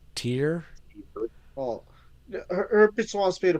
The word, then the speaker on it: Tyr: going to talk about t y r how do you say that tier oh herpes wants me